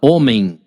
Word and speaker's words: homem: Quando você olha a palavra homem, você enxerga dessa maneira, né? O H não tem som.